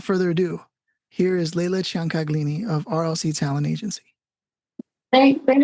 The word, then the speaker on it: Ciancaglini: Yes, I was going to ask you about the pronunciation of it because it sounds like it's Ciancaglini. Italian.